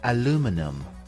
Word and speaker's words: aluminum: different pronunciations the American English pronunciation is aluminum aluminum and in British English it is called aluminium repeat after me aluminium it is interesting to